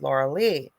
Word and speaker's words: Lorilei: called the lauraliz but it's spelled like but it's my name is said Laura Lee the story is and